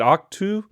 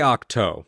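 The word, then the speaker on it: Ahch-To: Is it Octu? See, I say Octo. But the reason why I never correct anybody is because Ryan Johnson says Octu, but Ryan Johnson didn't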